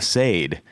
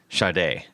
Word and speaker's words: Sade: it's so it's everybody everybody was like oh a Sade right and she actually they had to put things on like the records and everything that said pronounced Sade uh and um so